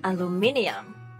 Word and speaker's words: aluminium: is British aluminum so this word has a different number of syllables in American version and the British version right four in the American pronunciation aluminum and five in the British pronunciation they are spelled slightly different to with the British version having an extra I aluminum aluminium wow they